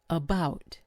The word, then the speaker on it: about: Notice how the first syllable, it's an a, turns into awah or an uh, it's unstressed. about.